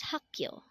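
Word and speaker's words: 학교: Next word is hakyo. Again, this is pronounced as hakyo, and this is the Korean term for school.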